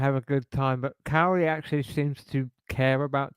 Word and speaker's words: Kaori: Cowrie? Yeah, Cowrie, that is the correct name.